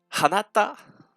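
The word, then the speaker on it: あなた: Hanata. Je répète, Hanata.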